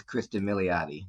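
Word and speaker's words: Cristin Milioti: Sophia Kristen uh mottis is that how you pronounce it Craig it is Kristen motti yes okay so uh the performance is amazing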